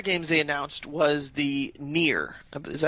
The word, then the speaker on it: Nier: Right, and they one of their games they announced was the Nier. Is that how you pronounce it? Yes, Nier.